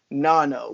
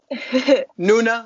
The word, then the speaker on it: Noona: host alessandro with a very special guest nasty nano what is up nasty nana noona that's how you pronounce it oh i'm sorry it's not good